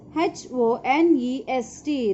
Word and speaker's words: honest: Cunning, C-L-E-V-E-R, clever, A-N-D, and dis, D-I-S, dis, H-O-N-E-S-T. This is dishonest. Children, here H is silent.